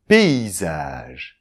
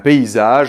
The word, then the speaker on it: paysage: it's about a « paysage » (landscape/scenery/panorama). So then here too, I think that the writing has something to do with it. What is it with this - A, this - Y followed by an - S ?